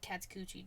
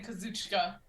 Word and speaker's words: Kazuchika: And then Matt said, "I'm tired of the Jonah Katsukuchi discourse." You know. That's a good way of saying Kazuchika, Matt, by the way.